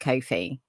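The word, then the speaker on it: Ko-fi: have a a Kofi I think it's pronounced Kofi because it's meant to rhyme with no Fe but the way we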